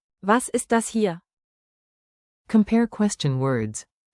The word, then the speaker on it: ist: Was Like was, not was, and keep. ist? Crisp, east.